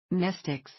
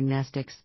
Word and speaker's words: Mnestics: Mnestics, Class W, X, Y and Z, same Greek root as the word mnemonic. The M is silent.